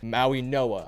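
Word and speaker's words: Mauigoa: I believe the G is pronounced with an N. So, Maui Noah, I think is how you say it.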